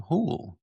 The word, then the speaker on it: Houle: I am your host, James Carman, and today we have with us Hool. Did I pronounce that right? Hool.